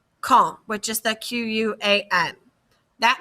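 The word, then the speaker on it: quand: to say that again you don't pronounce the d the d is pronounced silent so it's like kong which is the q-u-a-n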